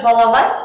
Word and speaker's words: баловать: Но насчет баловать есть своя тенденция, то что как бы ни менялось слово, ударение мы на бал не ставим. Например, баловать, балованный, избалованный, избалованные дети. Кроме слова баловень. В этом слове уже можно поставить ударение на первый слог.